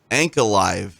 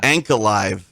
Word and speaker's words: Ankalaev: Ankalaev. I said it correctly. Ankalaev. That's not what he says. Ankalaev. I don't hear him say that. Yeah. There's an A. And I hear the 4 syllables there, TJ.